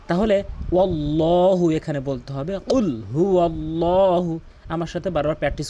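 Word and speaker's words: قُلْ: এখানে রয়েছে কুল। এখানে কফটি জিব্বার গোড়া উপরে তালু থেকে উচ্চারণ করতে হয়। কুল যার সঠিক অর্থ দ্বারা হে রাসূল আপনি বলুন। কিন্তু অধিকাংশ লোক যেটি বলে কুল।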